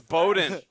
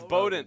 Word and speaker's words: Bowden: You still say my name wrong. It's Bowden. It's Bowden. Whatever. We were corrected by that at the consolation game. From me. He asked me at the end of the game. He didn't even DM us. Well, no, it was He could have DM'd us and been like, "Hey, it's spelled like arrow done."